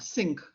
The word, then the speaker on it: sinc: general term for it our sink actually pronounce it like that sync sinc a sync function